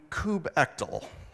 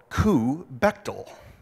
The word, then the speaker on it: kubectl: course some less obvious options we can do coop ekdal or coo bechtel or k you Bechdel and of course no